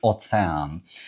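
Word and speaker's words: ocean: Ми кажемо океан, поляки кажуть оцеан.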